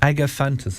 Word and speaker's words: Agapanthus: it all together, but Agapanthus, is that how it's pronounced? Agapanthus. I was close. I'd say it's Agapanthus. I just paid too much respect to the H.